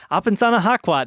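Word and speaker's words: Apesanahkwat: I cannot pronounce his name. Apensana Hakwat. It's Apensana Hakwat.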